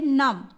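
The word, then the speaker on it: numb: जैसे इसको पढ़ते हैं नम, क्या पढ़ते हैं, नम, DUMB, एम, जब भी बी के आगे एम देखो तो बी का प्रोनाउंस नहीं करना है, बी को प्रोनाउंस करना ही नहीं है, बी का ब नहीं निकलेगा।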